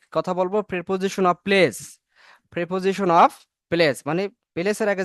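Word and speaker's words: preposition: হয় ইংলিশে বলা হয় প্রেপজিশন কি বলা হয় প্রেপজিশন বলা হয় প্রেপজিশন টা নট প্রিপজিশন কি হবে প্রেপজিশন এই প্রেপজিশনটা কেন আমাদের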